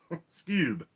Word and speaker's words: Skewb: got tonette right awesome this cube is pronounced like the cartoon dog oh okay skewb amy may says hello